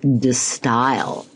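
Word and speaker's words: De Stijl: It's actually, I believe, pronounced D style.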